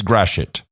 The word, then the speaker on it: Gratiot: There's a way of pronouncing it. I don't remember how. Gratiot. You almost said it right. Gratiot or Gratiot? Gratiot. You kind of swallow the shit, but it's Gratiot.